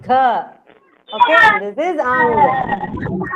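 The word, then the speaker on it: घ: Stress and pronounce gha.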